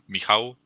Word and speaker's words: Michał: We're gonna welcome on the one and only Michael. Is that correct pronunciation, my friend? Nice to share this with you. Yeah, the last letter is pronounced like W in watch, so like W sound, Michał.